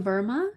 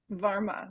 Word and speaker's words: Varma: So Verma, is that how I pronounce it? Varma, but perfect.